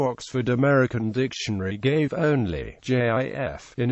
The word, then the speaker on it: GIF: Brand's television commercials and alternative pronunciation with a hard G is in widespread usage the American Heritage dictionary sites both acknowledging JF as the primary pronunciation